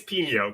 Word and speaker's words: Pino: But his name is Pino, correct? Yes, with an accent on the end.